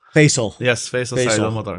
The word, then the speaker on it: Faisal: That's the way to pronounce it in Arabic, but it's it's the easiest way to remember my name is Face with Al. Faisal. Faisal.